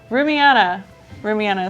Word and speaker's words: Rumiana: Rumiana is how you pronounce it, thank you.